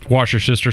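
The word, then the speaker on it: Worcestershire: It's K U Y but it's pronounced Kirkand Doll. How do you say Worcester sour sauce? Wash your sister sauce.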